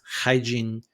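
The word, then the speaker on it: Haijin: probably correct me, but I believe it's pronounced hygiene.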